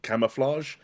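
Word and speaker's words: Camouflaj: studio is just pronounced camouflage it's but it's with a Jay at the end um I I don't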